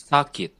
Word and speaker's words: sakit: See, the emphasis in Indonesian is the beginning, like the strong A. And in Filipino, it's more like the middle of the word, the first the consonant, the K, like sakit.